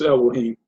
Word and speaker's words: Elohim: Well, in the Sefer, it's pronounced, I don't have a Sefer, but it's Elohim.